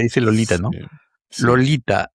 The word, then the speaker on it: Lolita: Lolita, la punta de la lengua emprende un viaje de 3 pasos, ¿no? Lolita, Tita, ujú. ¿no? 3 pasos, paladar abajo, o sea, poniendo el paladar,